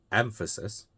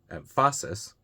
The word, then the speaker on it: emphasis: So, we take So, emphasis, three syllables. We put the put the stress on the first syllable, the second syllable, and the third syllable. See which one sounds right. So, we have the first one, emphasis, the second one, emphasis, and the third one, emphasis. The second one, obviously wrong.